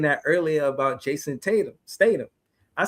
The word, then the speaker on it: Statham: I was saying that earlier about Jason Statham.